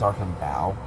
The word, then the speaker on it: Archambault: It's Archambault. Like, it's Bault, but it's pronounced Bow.